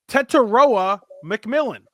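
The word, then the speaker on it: Tetairoa McMillan: I have I now have found the pronunciation. Tettoa McMillan, the wide receiver out of Arizona.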